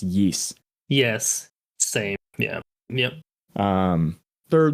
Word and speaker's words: Ys: It's spelled YS, but I've heard it pronounced Yeast.